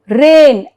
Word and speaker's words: reign: Now, here rule 2, G is silent if the word ends with GN.